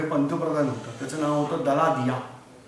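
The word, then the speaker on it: Daladier: पण दलादिया असं लिहित नाहीत, लिहिताना ते डल्ला डायर असं लिहितात. म्हणजे स्पेल आउट जर मी केलं, जर वाचलं मी इंग्लिशमध्ये स्पेलिंग, तर ते असणार आहे डल्ला डायर. बोलताना बोलायचं दलादिया. तर तसं हे काय मार्से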